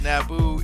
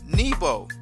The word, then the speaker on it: Nabu: moon god sin so the other way that you would pronounce Nabu is niebo which is how he's described in the Bible he's called Nebo this is why in